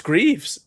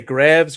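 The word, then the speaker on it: Greaves: It's Greavves, but people say Graves Graves and just all kinds of things.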